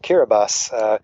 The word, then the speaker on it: Kiribati: the places I visited was a country called kiribas it's spelled like Kiribati but it's it's pronounced Caribou I've had the uh the former president of